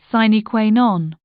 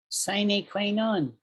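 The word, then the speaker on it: sine qua non: it wrong i need an e in there sign queen on sign a queen on sign queen on an essential condition a thing that is absolutely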